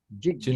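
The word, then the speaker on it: jijñāsā: life, Jinasa, Jigyasa. Jinasa, J and A is pronounced as Gya.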